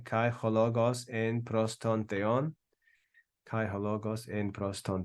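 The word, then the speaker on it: θεόν: So we don't have theon in one crazy, one syllable. We have theon, theon. All right? Two syllables.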